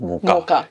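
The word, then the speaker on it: mocha: नाउ I knew pronunciation is मोका। क्यों? क्योंकि मेरे कॉलेज में सिखाया था मोका, और हमने डेजर्ट मोका के साथ बनाए थे। कह रही कौन सा वाला पाजी, मोचा केक?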